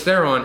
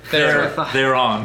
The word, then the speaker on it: Theron: He rides shotgun, while literally the female Charlize Theron and her the breeders. Theron. How do you say her name? Charlize Theron. They're on.